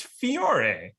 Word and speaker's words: Fiore: Also, it's pronounced Fiore. It's right there. It's not an I. No, it's an I, not an L after the F.